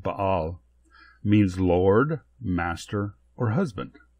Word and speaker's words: Baal: The Hebrew word Baal, which actually is pronounced Baal, means Lord, Master, or Husband.